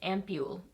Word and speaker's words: ampoule: Oh, I looked up how to pronounce this. Got that totally wrong. I think it's Ampoule. Ampoule. So here it is, and it retails for $46.